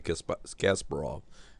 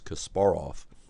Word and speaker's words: Kasparov: match in 2000 between Kasparov or Cas some people say KAS Kasparov Gary Kasparov but I believe the correct pronunciation is Kasparov and U Vladimir kramnick